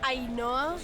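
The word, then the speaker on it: Ainhoa: Ainoa. It's like Ainoa plus an A.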